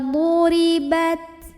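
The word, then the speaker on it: ضُرِبَتْ: Minallahi wa ba'u bighadabim minallahi wa duribat wa duri. Ra-nya ini dibunyikan secara tarqiq karena ra barisnya di bawah kasrah. Maka bacanya tipis, pangkal lidah datar, ringan ya. Wa duribat.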